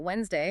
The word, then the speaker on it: Wednesday: Knowing that Wednesday has a silent D or knife starts with a K.